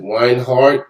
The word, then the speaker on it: Reinhardt: i got the last thing right is it wine heart that's how you pronounce it yes it is oh yes i